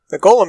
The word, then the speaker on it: G-OLM: He asked for it to be referred to by the last bit, which is, of course, Golem. Which should surprise us as it being pronounced like Golem anyway.